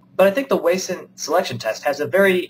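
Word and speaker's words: Wason: and so I went under the internets it's pronounced wayson but I think the wayson selection test has a very important role in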